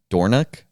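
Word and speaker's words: Dornoch: Born in um am I pronouncing this right? Dornock. Dornock.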